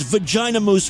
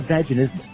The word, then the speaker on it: vaginismus: Oh, so what you're saying is vagina mousse was not the right way to pronounce that. That's not vaginismus.